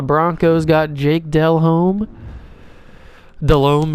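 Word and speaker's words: Delhomme: oh they got jake dell home the broncos got jake dell home delome is how you actually say his name uh just roster i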